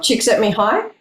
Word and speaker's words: Csikszentmihalyi: Did I get the pronunciation correct? I'm a bit nervous. I think you did a great job. Csikszentmihalyi.